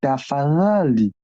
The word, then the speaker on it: tafadhali: Parce que en Swahili, les Z qui s'accompagnent, les deux qui s'accompagnent avec les H, on dit the. Les the, pour bien prononcer, on dit tafadhali, tafadhali.